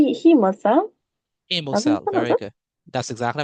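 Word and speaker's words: hemocoel: and organs in the um is it pronounced the the he heel he cell very good that's exactly how we pronounce it heel right good so that's how we do it so the hemosel formation so how does the hemo cell form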